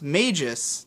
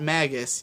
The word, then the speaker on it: Maggus: My name is pronounced Magis, not Magus.